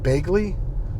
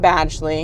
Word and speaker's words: Badgley: He looks like I know I got the name wrong. Bagley? The guy from... Penn Badgley.